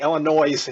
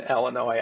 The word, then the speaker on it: Illinois: Illinois National Guard, and the thing that I absolutely love about Convoy is CW McCall's pronunciation here. It's such a rustic thing, is because it's the Illinois National Guard is what he says. And brought some reinforcement from the Illinois National Guard. You just got to love that pronunciation of putting the S in Illinois.